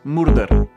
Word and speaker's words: murder: Y aquí vienen las famosas R's, que se pronuncia como en inglés. No es r y no es r. Es No decimos murder.